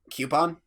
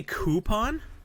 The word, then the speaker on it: coupon: right with your fun it should rhyme with Groupon right and you don't say